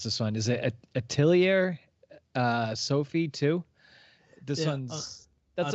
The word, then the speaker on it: Atelier: On Friday, we have, maybe you can help me out with how to pronounce this one. Is it Atelier Sophie too? This one's... That's Atelier.